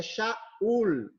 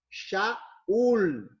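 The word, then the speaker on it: שאול: Paulo em hebraico é shaul shaul tá ok quando foi para o grego virou Saulo ou Saul Tá bom mas a pronúncia em hebraico é shaul Tá ok passando para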